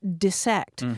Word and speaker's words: dissect: all over us because she was saying look it's it's got two s's in it it's pronounced dissect but that one has